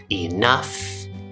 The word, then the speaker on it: enough: There's also the uff sound, uff, which is a short U sound, plus an F sound, f, uff. And you'll see this in words like tough and enough and rough.